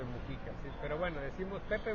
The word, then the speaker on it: Mujica: creo que incluso que son más las personas que dicen Pepe Mújica que Pepe Mujica, pero no está acentuado, compañeros, para que pudiéramos decir Pepe Mujica, tendría que haber un acento en la U y no lo tiene. Entonces es una palabra grave y entonces es Pepe Mujica.